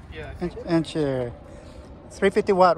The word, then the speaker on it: Archeer: How do you pronounce the name? Archeer? Yeah. Archeer.